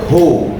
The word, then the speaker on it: who: maka diganti dengan H dibacanya Who bukan W ya masih ada yang baca W soalnya Ya hya cuman satu